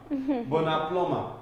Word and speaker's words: plumber: plus your normal Nigeria plumber seriously because uh the B is silent in Plumber so you go to